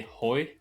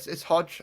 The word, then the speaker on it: Hodge: Maybe I should say Hoy, or how do you pronounce it? It's Hodge. A lot of people have Hodge. like different pronunciations of it, but yeah, it's I'm not really bothered either way. But yeah, the official way of saying it is Hodge.